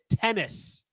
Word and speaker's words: Gene Tenace: Gene Tennis. Not like the sport tennis.